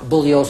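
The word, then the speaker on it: Bugliosi: my name is pronounced bullios of the g is silent i've told you this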